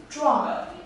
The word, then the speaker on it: 壮: this character is pronounced as drawn drawn as an activity meaning strong where drama